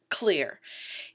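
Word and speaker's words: Xlear: and for consumers is a company called clear it has one main product which is the product that started off the whole thing called clear nasal spray and that is spelled x-l-e-a-r and this is what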